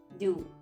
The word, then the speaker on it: deux: Du. DEUX. Du plus set. SEPT. Set. P is silent, children.